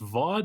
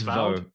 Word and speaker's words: Vaud: Uh it is named I believe that's pronounced Vaude. I don't know. It's it's VO VO.